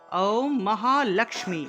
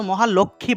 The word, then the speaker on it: মহালক্ষ্মী: মহালক্মী আমরা তো মহালক্ষ্মী বলে ফেলি এটা লক্ষ্মী হবে না হবে লক্মী এখানে দেখুন এর নিচে একটা ম আছে তাহলে উচ্চারণটা হবে লক্মী লমী ঠিক আছে এখানে